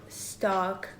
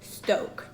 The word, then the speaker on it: Stok: And now let's talk about stock coffee, which when I was on their website, I found out it's actually pronounced Stoke.